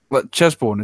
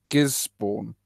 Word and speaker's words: Gisborne: It's Gisborne. Gisborne? Is that correct? Gisborne? Gisborne? You put JIS. Gisborne? That's what Vic thought it was. Vic thought it was Gisborne. Say it like Gisbin. Gisbin? Gisborne? Gisborne then. Gisborne. Yeah, Gisborne, basically. Okay, well, the more you know.